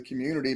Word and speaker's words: Cxmmunity: And so it's Community is spelled CXMMUNITY. So instead of an O, it's an X there.